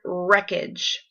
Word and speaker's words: wreckage: So let's look for the word wreckage. Okay. You don't hear that W at the very beginning. It sounds like it should start with an R, but it doesn't.